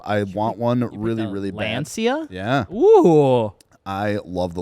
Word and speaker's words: Lancia: Google says it's pronounced Lancia. Lancia.